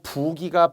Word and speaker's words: 부기: 할 때 의존명사태 또 부기가 빠지다 정말 말 그대로 이게 부종 얼굴 같은게 온몸이 붓는 것 그것을 한자어 부기라고 하는데 이것을 사이시오부처 붓기 이런 분들이 있어요 발음도 잘해야 돼요 부기죠 부기 신장이 안 좋다거나 얼굴이